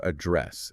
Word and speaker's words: address: Yes, the verb address, a dd re ss, with the stress on the second syllable. Remember, not like a mailing address.